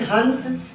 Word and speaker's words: हंस: हंस, इसके अनुस्वार का जो उच्चारण है वो सिर्फ नाक से होता है। चंद्र बिंदु का उच्चारण जो किया जाता है वो नाक और मुंह दोनों से होता है। लेकिन जो अनुस्वार लगा होता है ना, अनुस्वार का उच्चारण सिर्फ और सिर्फ नाक से होता है, आवाज नाक से गूंजेगी।